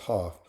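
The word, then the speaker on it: Haugh: Uh Haw I think his name name is pronounced Hoff had 12 points off the bench.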